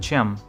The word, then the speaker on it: CEM: ads 2024 update 2 cem pronounced like Cham stands for card electromechanical specification ads PCI compliance probe interface